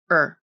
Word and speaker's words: her: can also be reduced the initial age consonant can be dropped and her can be pronounced as er i asked her i